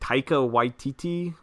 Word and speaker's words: Taika Waititi: I don't know how to pronounce his name. Taika Waititi.